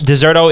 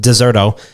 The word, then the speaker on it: Deserto: Deserto is going to be the way we pronounce it moving forward, because that's how it is pronounced, Deserto.